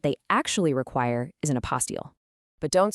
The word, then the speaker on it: apostille: It's pronounced apostille.